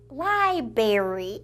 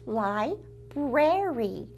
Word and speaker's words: library: say the word library, I pronounced it library, and maybe you did too when you were little, until someone taught you the correct pronunciation, which is library.